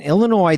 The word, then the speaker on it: Illinois: In Illinois, the S is silent, but so is the D.